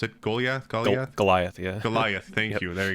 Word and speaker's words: Goliath: Is that how you say it, how you pronounce it? Goliath? Goliath, yeah.